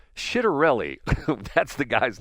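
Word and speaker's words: Ciattarelli: You pronounce it as soft C. So it's Shitterelli.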